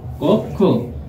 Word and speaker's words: কক্ষ: Viewers, পরে একটু লক্ষ্য করো, কক্ষ, কক্ষ। ভিউয়ার্স, একটু লক্ষ্য করো, কক্ষ বানানে কক্ষ, কক্ষ, কোক থেমে গেছি তাই এই যে হসন্ত। আর ক্ষয়কারে খো, কক্ষ। ভিউয়ার্স, পরেরটি লক্ষ্য করো, কবিতা,